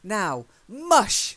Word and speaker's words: mush: now mush okay so now mush try it now mush yeah mush it's now mush that's it the stress is really on the mush that's his command that